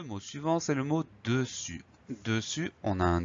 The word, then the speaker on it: dessus: On a un U et on va avoir un S muet. Donc le S muet, il faut absolument le photographier, le retenir, parce qu'on l'entend pas et je connais pas de moyen de s'en souvenir.